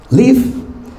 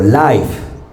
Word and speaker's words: live: Live. Si esta palabra en inglés se pronuncia live o life. ¿De qué depende? Live, si es un verbo, vivir. Life, si es un adjetivo, algo que está vivo o algo que hace